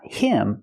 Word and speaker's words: him: what happened he gave him the money we hear the pronunciation not him but gave him gave him the H in him is silent because the word's not stressed he gave him the